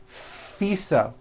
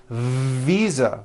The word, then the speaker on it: visa: her international fisa correct no I said fisa with an unvoiced F I should have said visa with a voiced v living I am living